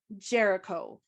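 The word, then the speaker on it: Géricault: Theodore Jericho. Like Chris Jericho. That is not how it's spelled.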